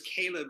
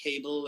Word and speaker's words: Caleb: so much you know my name is Caleb and you have no idea how many people call me cable and and Kelly so I'm aware of